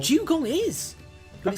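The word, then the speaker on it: Dewgong: Dugong is! But Okay. it's spelled D-E-W. Yeah, Dugong. like water. Like the morning dew.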